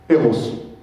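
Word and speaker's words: Rrose: Donc ça se prononce R-Rose. Eros.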